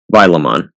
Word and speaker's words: Vilamon: I know it looks like it should be pronounced Vile, but I swear Paimon pronounced it Vila. I don't know if that's a mistake or censorship, but I'm certain that's how he said it.